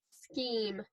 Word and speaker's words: scheme: We know that because there's this E at the end that it is silent, and this other E is long.